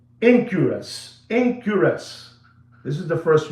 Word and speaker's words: Enquirus: So that is the first one, and it's called Incurus. It's spelled Enquirus.